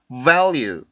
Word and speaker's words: value: 발음해드리고 강의 마칠게요. value, value, value, value, value, value.